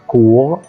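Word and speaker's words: cours: بالانجلش اي بوتي بوتي كمان كلمه كوغ كوغ اللي هي حصه او تيجي بمعنى محاضره هنا الاستنطق ما ينفعش اقول ايه كورس خطا هنا ايه لا تنطق دي ملاحظه رقم اين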